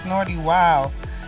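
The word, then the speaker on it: Snootie Wild: People pronounce it like they want to, but it's Snorty Wild.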